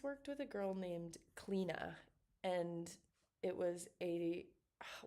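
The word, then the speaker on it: Clíodhna: And then when she introduced herself to everyone, she said like, "Cleina, like clean."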